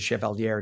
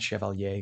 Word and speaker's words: Chevalier: Daria Alisa Chevalier, who's the and she does pronounce it Chevalier, not Chevalier, cuz she is I believe Dominican.